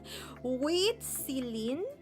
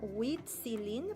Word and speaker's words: Huitzilin: This is a hard thing to pronounce for me because you have to extend the I. Se me hace un poco difícil pronunciar Huitzilin porque tienen que extender la I.